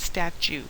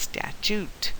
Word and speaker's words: statute: and by the way, statute is not statue, it's statute, and do everything you can to make yourself say it and spell it correctly.